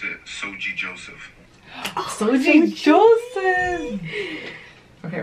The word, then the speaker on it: Soji: You pronounce it Soji Joseph.